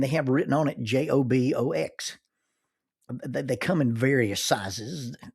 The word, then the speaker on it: Jobox: The official name of the j o b o x is actually pronounced jobox. It's not jobox or jobox, it's jobox.